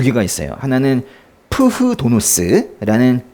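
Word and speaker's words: φθόνος: 헬라어로는 푸흐 도노스라고 하거든요. 좀 막 쓰면 그냥 푸도노스인데요. 푸도노스인데 사실 원래 발음할 땐 푸흐도노스. 그냥 푸흐, 응? 푸흐도노스 해보세요. 푸흐도노스 이렇게 읽는데요.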